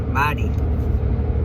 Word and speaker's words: Mytee: I'm sure it's supposed to be pronounced mighty, like mighty.